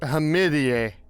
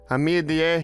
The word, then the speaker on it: Hamidian: Apparently, it's pronounced Hamidian. Hamidian. It's pronounced Hamidian.